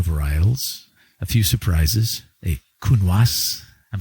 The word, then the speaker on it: Counoise: So I was just tasting it, Cotes Ciel, lovely wines, lots of Bordeaux varietals, a few surprises, a Counoise.